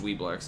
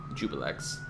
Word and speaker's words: Juiblex: They don't like the way I pronounced Dweeblex, everybody. Jubilex.